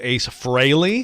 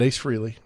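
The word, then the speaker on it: Frehley: not paul was it ace fraley he's not ace freely dude stop saying his name wrong like we have we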